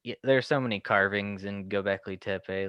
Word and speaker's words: Göbekli Tepe: I'm not the proper pronunciation, the proper. Göbekli Tepe is how it's pronounced. Wait, one more time. Göbekli Tepe.